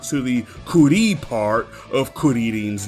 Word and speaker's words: Kuririn: in the Japanese version, Kuririn. His name is a combination of kuri, which is the Japanese word for chestnut, and shorin, which is the Japanese pronunciation of the Chinese word shaolin.